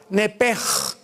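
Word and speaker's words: נפש: nepesh, como suena, N-E-P-S-H-M, nepesh. En el hebreo se pronuncia la SH como J, nepej.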